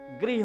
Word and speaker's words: गृह: अलग अलग है का के नीचे जो ऋ लगी उसका कृष्ण गृह होता है लेकिन उसको कहते ग्रह कई कई लोग रा और ऋ के उच्चारण में बड़ा अंतर है मैया ने कहा यह